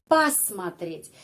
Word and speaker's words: посмотреть: Смотреть dan perfective form посмотреть. Bedanya apa? Bedanya awalan kata kerja ya. Di sini ada po. Tapi bacanya pa.